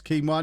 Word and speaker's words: quinoa: did but i don't took me years to realize the proper pronunciation of quinoa yeah i think i don't know i think i always knew it was keema not because i'm a